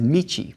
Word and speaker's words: michi: That same character can also be read as Michi, which also means road or something, but it's in a more traditional Japanese pronunciation.